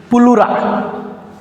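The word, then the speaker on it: pleura: इस जगह का पुलरा उसे लिखते हैं फिलरा। ये प्लुरा पढ़ते हैं इसको ये साइलेंट है पुलरा ये पुलुरा इसी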